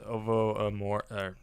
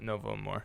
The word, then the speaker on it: Novo Amor: Honestly, it's like, so there's this like artist Ovo Amor, yeah, that's how you say it, right? Ovo Amor. Novo More, yeah. Novo Amor. Yeah, I'm saying it wrong.